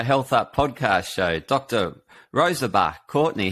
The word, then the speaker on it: Rosalba: Dr Rosalba Courtney, how are you doing today? Hi there. It's Rosalba. It's a hard one. Yes. It's tricky. Yeah, it's an Italian name, Rosalba.